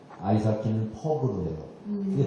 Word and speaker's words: 퍽: 볼, 아이스하키는 퍽으로 해요. 근데 발음을 잘해야 됩니다. 퍽. P 발음으로 하셔야 됩니다. F로 하면 큰일 납니다.